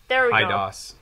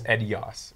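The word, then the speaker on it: Eidos: some tips on bethesda idos yeah it was funny because i've always pronounced it or seen it as edios e-d-i-o-s but anyways cool story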